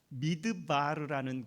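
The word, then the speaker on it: מדבר: 구약성경의 그 광야라는 그 히브리 단어는 미드 바르라는 그런 발음 좋죠 미드바르 그런 단어를 쓰는데이 미드 바르라는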